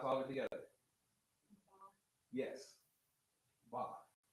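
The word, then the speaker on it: בת: Ba. Not bath. Not bath, but ba.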